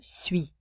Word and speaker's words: suis: Je suis. Notice UI makes a oui sound.